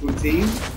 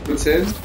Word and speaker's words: poutine: Let me try to pronounce this right. Poutine? Poutine? Poutine. Like Vladimir Putin? You guys literally have a... This is the actual pronunciation.